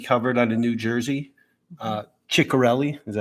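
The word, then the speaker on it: Ciattarelli: Ciccarelli, is that how we say his name? Yeah, Ciccarelli.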